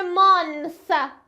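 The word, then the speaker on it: months: حالا بدون اسش زبون میاد بین دو تا دندون میگم ت میشه میشه میشه مانس مانس زبون بین دو تا دندون میگم ت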